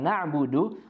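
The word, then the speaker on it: نَعْبُدُ: pada kata pada kata na'budu huruf ainnya harus kita perjelas agar tidak tertukar dengan Hamzah na'budu ya na'budu jadi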